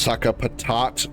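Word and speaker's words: Sacapatate: It's pronounced saka patat based on the French sakatas which means a potato bag.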